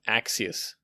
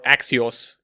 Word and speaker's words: Axios: Now to make the API call, we are going to make use of Axios, okay, or Axios. There are different pronunciation for this, okay.